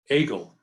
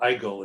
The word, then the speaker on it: Egil: And here is Maude at age 14 in Prospect Park with her cousin Egil, or Eigil as he pronounced it in Norway.